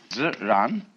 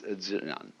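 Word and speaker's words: 自然: And in Chinese, nature we use the word nature for the Chinese expression Ziran. They pronounce J like a sort of unrolled R. I mean, that's the scholars did this to confuse you.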